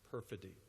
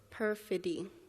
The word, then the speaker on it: perfidy: Is there an alternate pronunciation? Perfidy. No, there is not. Say it out loud for me, nice and loud. Perfidy.